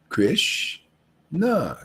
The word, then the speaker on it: Krishna: means radha krishna actually see two syllables not one two krish nah krish represents the absolute truth and na is just like you ever felt good and you go ah see no ah no